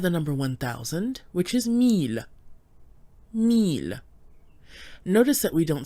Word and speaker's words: mille: So here we have the number 1000, which is mille.